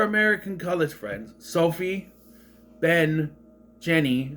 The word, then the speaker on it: Jeni: We just cut to our 4 American college friends: Sophie, Ben, Jenny, spelled Jeni. That's Jenny, first of all. Whatever. But it's pronounced Jenny.